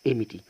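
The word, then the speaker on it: empty: اسهل من حضراتكم هنا القاعده تقول حرف البي حرف التي اذا كان قبله حرف بي فهنا في هذه الحاله يكتب ولا ينطق يكتب ولا ينطق ونا طبعا زي ما حضراتكم شايفين في حرف التي فبالتالي كلمه فارغ اسمها اميتي وليست تي اسمها ايه اميتي اميتي اميتي اميتي يبقى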